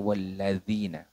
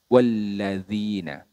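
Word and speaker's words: الَّذِينَ: mana teman-teman di sini beberapa kesalahan yang sering terjadi yaitu pada huruf atau pelafalan huruf dalal walladzina kesalahannya Seperti apa walladzina Nah bedanya di mana Nah bedanya di sini menggunakan huruf dalal teman-teman huruf dalal itu makhrajnya berbeda dengan huruf Dal ya berbeda makhrajnya huruf Dal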